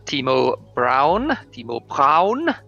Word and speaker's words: Timo Braun: I am Terra Incognita, and alongside me, the amiable voice you hear occasionally is Mr. Timo Braun, to give him his proper German pronunciation.